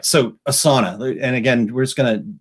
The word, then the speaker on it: Asana: it's Asin a and it is pronounced a sauna we actually took a they did a webinar training thing and so one of the people that work there call it a sauna and so we're like